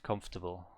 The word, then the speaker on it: comfortable: so or is silence ah okay i see comfortable yeah yeah that sounds correct comfortable there are actually many words like that for